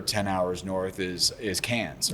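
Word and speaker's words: Cairns: hours North is is cans or it's spelled like K but uh but but cans and those are those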